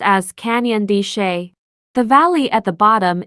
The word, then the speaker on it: Canyon de Chelly: today I am visiting Canyon D yes it's pronounced as Canyon D the valley at the bottom is Navajo land